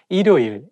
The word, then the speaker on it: 일요일: When the word has the same syllable at the beginning and at the end at the same time, it's not easy to pronounce. For example, 일요일, 일요일. If you read it syllable by syllable, you can say 일요일. But when you say it as a one word, you have to connect it together and say 일요일.